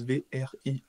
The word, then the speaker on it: Vriends: Alors en défenseur j'ai pris, alors là, Bart Vriends, aucune idée de comment ça se prononce, Vriends, comme Friends mais avec un V à la place du F en gros.